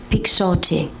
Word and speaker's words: Pixote: And can you first say it and then spell it for us? Yes. Pixote.